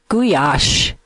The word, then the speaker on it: gulyás: The word gulyás is the Hungarian pronunciation.